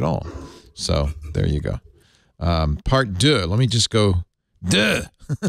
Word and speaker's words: part deux: He did a part deux. I'll pronounce it right because Manu's here.